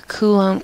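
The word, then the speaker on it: Coulomb: I'll write it here kulum cuz it's spelled weird kum's law um you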